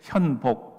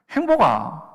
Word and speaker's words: 현복: 졸랐습니다 바꿔 주셨어요 그게 현복 문제는 발음이 너무 어려운 거예요 니은자 받침을 못하니까 이자로 발음을 하는데 항상 친구들은 행복 행복아 내 이름이 행복이라고 하나님이